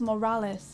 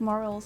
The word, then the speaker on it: Morales: what what are those I think you mean Morales you pronounce it males Morales India it's a good game I'm like morals and dogs like he's